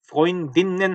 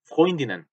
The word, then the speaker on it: Freundinnen: 프로인딘넨 하지 않고 프로인디넨, 프로인디넨.